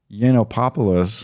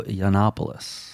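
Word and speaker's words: Yiannopoulos: __ ] and ex-gay Milo yopos it's Milo yannopoulos thank you has stepped down as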